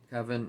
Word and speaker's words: Covent: think that's coven c-o-v-e-n-t kevin is how i would pronounce it garden so again she's